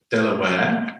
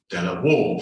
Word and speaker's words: De La Warr: from the family name the pronunciation should be Delaware although traditionally everyone in Mexico pronounces it Della wall so there's what you should say and that's what everybody is habitually said so I won't go